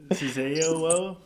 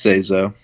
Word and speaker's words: Seizo: You always add syllables to character names. Sazeo? I think it's just Seizo. It's Seizo. Isn't?